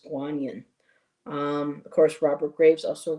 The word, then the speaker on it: Guanyin: And we're used to hearing Kuan but the original pronunciation was Guanyin.